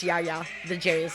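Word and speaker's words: Jaja Ding Dong: natural yeah yeah it's not fyi is not ja ja ding dong it's yaya the jay is silent he said i'm making it clean because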